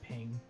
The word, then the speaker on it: PNG: I just need you all to know that there are actually people in the world that pronounce PNG ping.